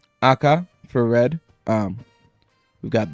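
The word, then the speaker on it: 赤: the other one that that one is just pronounced AKA not Akai there which sometimes I tend to do cuz I I think I learned Akai before just AKA itself um the rest yasumi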